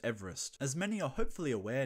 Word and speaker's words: Everest: Ironically, the modern pronunciation of Everest deviates from Sir George's own pronunciation of his surname, which was Everest.